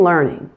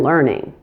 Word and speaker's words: learning: In learning, watch out for the ER pronunciation. Don't be fooled by the spelling. Do not say air. It's which is the same sound in version and in the endings in linear and feature.